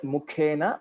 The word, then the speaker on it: मुखेन: सचरुरोदजले जलचारिणा धृतपदो ह्रियतेऽम्ब करोमि किम् चलितुमेकपदं न च पारये बलवता विवृतोरुमुखेन Just a point, mukhena mahaprana, that was missed.